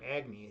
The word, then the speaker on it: Agni: mean egg my name my name agne is uh or agni as they pronounce it in uh in hindu mythology um it's one it's